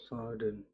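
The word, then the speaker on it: صاد: Dan mengapa kita ada memantulkan di akhirnya huruf dal? Karena memang secara ejaan shad itu ada dalnya.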